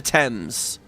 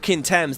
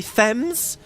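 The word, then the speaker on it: Thames: know the other one the other one's the river temps the river temps they all say thems or FES oh my God and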